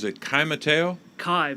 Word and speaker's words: Kai: pronounce it kai mateo kai my first name is kai kai okay kai thank